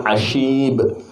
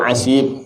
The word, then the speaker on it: Ashib: Nah, tadi ada sin muhmalah, ada sin mu'jamah. Berarti apa? Shin. Abu Ashib. Kata siapa? Imam Ibnu Katsir. Terserah ente bacanya ikut imam siapa. Jangan Imam Samudra. Ashib. Wa qala wa minhum man yaqulu asib. Terus beliau komen, di antaranya ada yang berkata asib pakai sin, was-sahihu al-awwal. Imam Ibnu Katsir mentarjih, yakni